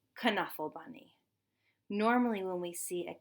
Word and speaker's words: Knuffle Bunny: this story it is pronounced k and it's pronounced come kunafa bunny so I hope that you enjoy Trixie as